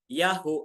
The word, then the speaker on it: Yahu: scripture u ha okay yung ha na yan ay bigkasin po as a kaya y plus as kaya maging ya and then followed by u or u mga kapatid yaho and then another ah a which is ha yahu a y UA o